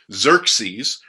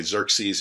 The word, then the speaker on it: Xerxes: more interpretive it's going to say xerxes if you're using one that's a little bit more literal it's probably going to say josueris which would have been kind of his his persian slash babylonian pronunciation of his name instead of the greek